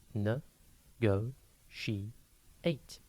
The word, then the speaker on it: negotiate: a time today's word is negotiate it is pronounced n Go she 8 and it is spelled n e g o t i a t e negotiate means to discuss and try to come